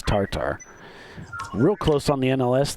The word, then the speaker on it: TATR: I thought it was Tater, but then I heard it was corrected as Tartar.